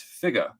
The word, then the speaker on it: figure: yes the word figure there are two pronunciations in my mind there's tom hanks from toy story where he says you're an action figure and then there's the british pronunciation which is figa so my struggle is